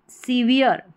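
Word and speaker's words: severe: बोले ठीक है तो यह हो गया सीवी सीवियर सीवियर यानी इयर करके उसका उच्चारण आ रहा है इयर सीवियर इस तरीके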